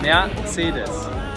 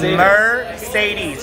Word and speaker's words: Mercedes: Mercedes. Mercedes. Mercedes. What? Mercedes. It is a German brand. It's Mercedes. You have to pronounce the syllables. Mercedes.